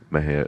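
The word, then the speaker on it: Mexia: theater 923 East Main Maha Texas Maha is spelled m x i a the ZIP code 7666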